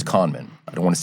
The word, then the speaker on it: Kahneman: Now, the psychologist, Daniel Kahneman, which I'm almost positive that's how you pronounce his name. I looked it up at one point. It's not Kahneman, it's Kahneman.